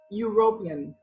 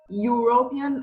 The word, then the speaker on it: European: front of it well the sound of this word is we European European as in a white sound so it doesn't sound